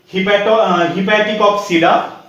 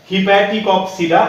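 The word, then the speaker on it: Hepaticopsida: हिपैटिकॉप्सिडा, ये प्रोनाउंसिएशन थोड़ा सा आप ध्यान में रखिएगा, हिपैटिकॉप्सिडा, जिसको हम लोग लिवरवर्ट्स भी कहते हैं, और इसका एग्जांपल है रिक्सिया एंड मर्चेंसिया।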